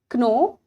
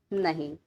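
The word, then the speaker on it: know: यहाँ पर के साइलेंट है और यहाँ एल साइलेंट है, मतलब इन्हें लिखा तो गया बट बोला नहीं गया।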